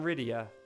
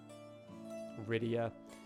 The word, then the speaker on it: Rydia: Rydia. When I first met her as a 8-year-old, I pronounced her name Rita because I couldn't imagine that anyone's name was Rydia.